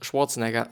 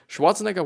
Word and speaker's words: Schwarzenegger: So yeah, there's a picture from Arnold Schwarzenegger, which is actually the German, Austrian pronunciation, or Arnold Schwarzenegger, started pumping iron at the age of 15.